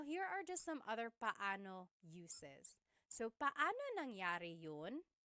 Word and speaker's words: paano: And then just a pronunciation tip. It's technically paano. When there are two vowels together, you say them separately. Paano. But when speaking quickly, Filipinos just say paano.